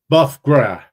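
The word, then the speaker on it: bœuf gras: I think or bogra let's see here it's buff gra buff gr just like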